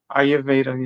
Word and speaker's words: Ayurveda: Agnyotra is a healing fire from the ancient science of and make sure I'm pronouncing this right. Ayurveda Ayurveda.